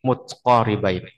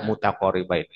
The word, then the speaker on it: متقاربين: Nah, dibacanya nanti mutqaribain walaupun asalnya dibaca mutaqaribain. Lagi-lagi daruratus syiri ya, darurat syair menyesuaikan wazan syair.